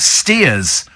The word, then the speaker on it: Staithes: Steve, Staithes near Whitby is called Steers by the locals, says Peter. Prass Sands near Penzance, pronounced Pray Sands.